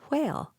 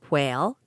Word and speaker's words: whale: And when it was my turn, the word was whale. I said whale, W, sans prononciation of the full WH, whereupon the beautiful Mrs. Glendinning corrected me. Whale, wh.